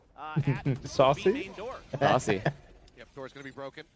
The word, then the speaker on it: Sacy: Saucy as well because it's Saucy, not Sacy, right? Yeah, So Sassy. he started saying Saucy. But other than that, not a lot of defense at the Saucy? main door. Saucy.